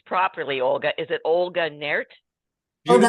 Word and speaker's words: Naert: Help me pronounce this properly, Olga. Is it Olga Naert? Olga Naert.